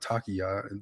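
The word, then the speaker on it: Taqiyya: I think Blue Meanie was talking about takiya there in the comments.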